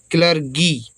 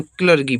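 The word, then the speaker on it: clergy: सी से आदा का एल ई आर है तो लर और जीवाई से गा बड़ी की क्लर गी ठीक है ना इसको क्लर कीी पढ़ेंगे यहां पर देखिए गा है तो क्लर्की का मतलब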